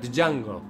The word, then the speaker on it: Django: ¿Para qué pones la D? Porque habrá que pronunciarla. ¿Para qué te ponen a ti una A antes de la N? Para que sea Ángel, no Ángel. Pues es lo mismo. Pues si te pone una D antes de la J, no sé cómo, pero tienes que pronunciar Django.